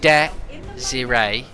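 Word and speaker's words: Désiré: The French name Desire Dewey is pronounced as Desiree. Really? Desiree? It's not an S, it's a Z. Desiree.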